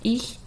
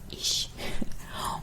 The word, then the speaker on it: ich: anything about it, so they tend to pronounce the h sound like sh. So instead of ich, which means I in German, ich, they would say ich.